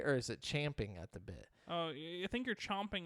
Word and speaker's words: champing: be eager to start wait it is champing so i've been saying it wrong in this whole my whole life yeah it says the original phrase is indeed champing at the bit but chomping at the bit emerged